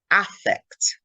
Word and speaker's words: affect: hold their body and that is pronounced affect as opposed to effect so there's both how the vowel is pronounced and the stress in the word you pronounce it correctly